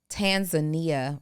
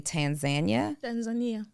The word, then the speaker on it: Tanzania: wrong, and it's actually Tanzania. Tanzania. So it depends on the accent. So if you're from East Africa, you say Tanzania. If you're from West Africa, you have a different way of saying it.